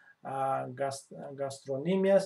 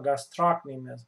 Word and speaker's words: gastrocnemius: So superficially, you can see gastrocnemius or gastrocnemius. Both pronunciations are correct.